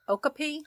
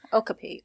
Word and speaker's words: okapi: about it yeah uh is it o oopy or Okapi Okapi Okapi is like the African way of saying it so like the actual like it looks like technically we butchered it we did yeah you know they said it the the colonist way I guess we're remnants